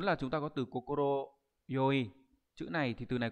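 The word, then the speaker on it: 快い: Số 4 là chúng ta có từ kokoro yoi.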